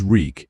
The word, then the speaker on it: Reek: My name is Reek. It rhymes with bleak.